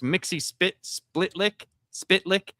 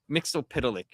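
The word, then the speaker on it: Mxyzptlk: So there's two ways to pronounce his name. There's Mixie Spitlick, or there's Mixopitalik.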